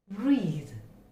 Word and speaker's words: breathe: Again, we have a word breathe, breathe. Okay, it's quite different from the previous sound, breath, breath. It's breathe. The z sound is heard. Okay, it's a buzzing sound.